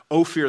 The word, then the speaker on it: Ophir: and the gold of ophir among the stones oh fear that's how you pronounce it in in the language now ophir